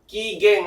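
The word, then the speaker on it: 機嫌: Cara bacanya adalah kigeng ya.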